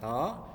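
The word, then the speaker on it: ρ: densitas atau rapat massa dengan simbolnya seperti ini ini dibacanya roh itu menunjukkan perbandingan massa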